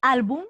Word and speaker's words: álbum: mismo a pasar con álbum tu dices álbum o tú dices álbum álbum no pues entonces álbum donde la fuerza de voz está aquí en alt y esa es la penúltima la tildó o no